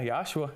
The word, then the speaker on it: Yoshua: Am I saying it correctly? Yeah, Yoshua.